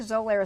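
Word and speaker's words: Xolair: i'm apologize i think zolaira is spelled with a z not an x but is an x x okay that's correct it's pronounced with a z zolair and then there's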